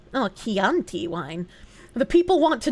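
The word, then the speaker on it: Chianti: Pronounced Keianti. Oh, Keianti wine.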